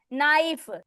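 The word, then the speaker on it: knife: जैसे के नाइफ उसकी स्पेलिंग क्या है? नाइफ के एन आई एफ ई नाइफ। Okay? जैसे छुरी होती है नाइफ। लेकिन उसमें के बाद एन आया है। एन आ गया है तो के साइलेंट है।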